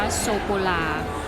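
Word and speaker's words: sô cô la: นะ คะ แล้ว ก็ โซ โค รา ก็ คือ ช็อกโกแลต ออก เสียง ว่า โซ โก ลา ยัง ไง จะ มี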